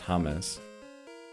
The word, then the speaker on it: James: It's like, you know, the way uh there's that Colombian football player that's spelled James, but it's pronounced Hames.